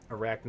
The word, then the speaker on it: Arachne: Although I think that Arachne is how you're supposed to pronounce the word in English, but who knows.